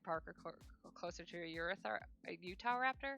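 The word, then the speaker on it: Utahraptor: are closer to a Utah raptor. I just want to call me Euroraptor. It's a Utah raptor. I always pronounce it weird, but it's literally Utah and raptor.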